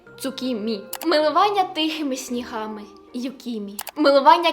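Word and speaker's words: tsukimi: такий прикольчик просто коверкати іноземну мову милування місяцем цукіні ой цукімі мі ц цукімі милування тихими снігами юкімі милування квітами ханамі Геніально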